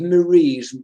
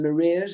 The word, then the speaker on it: Maria: for their name and i bet you get lots of marie's rather than maria's is that possible yeah marie mary um yes i often get my name pronounced wrong yeah which and it's not a difficult name really maria i appreciate the surname